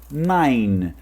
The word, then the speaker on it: nine: Então não é 9, é 9. nine. É como se você terminasse no N. Se você fosse falar nine e depois o N de novo. O nine, nine, nine, nine. Então você fala nine e termina nesse N sem precisar pronunciar o E.